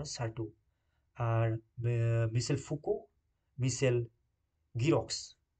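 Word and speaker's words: Certeau: Mitchell D সার্টিউ ওকে এটা কার্টু বলে হয় না এটা সার্টি উচ্চারণ হবে ওকে ঠিক আছে চলে যাচ্ছি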